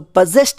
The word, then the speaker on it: possessed: ಇದು ತಪ್ಪು ಉಚ್ಚಾರಣೆ ಆಗುತ್ತೆ ಈ ಪದ ಸರಿಯಾದ ಉಚ್ಚಾರಣೆ ಪೊಸೆಸ್ಡ್ ಅಂತ ಅಂತ ಬರುತ್ತೆ ಇದು ಪೆಸೆಸ್ ಪದಕ್ಕೆ ಇಡಿ ಆಡ್ ಮಾಡಿರೋದು ಲೆಟರ್ ಎಸ್ ನ ಸ ಶಬ್ದ ಒಂದು voice less sound voice less sound ಗೆ ನಾವು ಇಡಿ ಆಡ್ ಮಾಡಿದ್ರೆ ಆದರೆ ಲೆಟರ್ ಡಿ ಅನ್ನು ಲೆಟರ್ ಟಿ ನ ಟ ಶಬ್ದ ಉಚ್ಚಾರಣೆ ಮಾಡ್ತೀವಿ ಲೆಟರ್ ಇ ಸೈಲೆಂಟ್ ಆಗುತ್ತೆ ಸೋ ಪೊಸೆಸ್ಟ್ ಆಗುತ್ತೆ ನೆಕ್ಸ್ಟ್ ವರ್ಡ್ ಪಿ ಓ